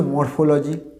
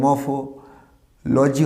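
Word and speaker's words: morphology: সিলেবেলটা ভাবো, মরফোলজি। মর, প্রথম সিলেবেলটা কী আছে? শেষে আর আছে, মর, আরটা উঠে যাবে। আমরা আগের প্রচুর ভিডিওতে দেখেছি, কোনো সিলেবেলের লাস্ট ওয়ার্ডটা যদি আর থাকে, সেটা লাস্ট লেটারটা যদি আর থাকে, সেটা কী হবে? সাইলেন্ট হয়ে যাবে। তাহলে উচ্চারণটা কী হবে? ম, তারপর ফ আসবে, মফ। লজি হবে কি, আমরা যুব লাজি করেছি না, তাহলে এটা কী হবে? মফোলজি। তাহলে উচ্চারণ হলো কি? মফোলজি।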